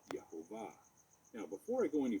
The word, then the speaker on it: Yahvah: So for the purposes of this video, we are going to use the V sound because that is what is used in the pronunciation Yahvah.